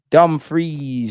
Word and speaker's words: Dumfries: Freeze, not fries. Dumfries.